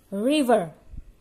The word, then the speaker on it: river: In English, river. River, seperti tadi Ustazah Nika katakan, R-nya kita simpan. River, river, river, sungai.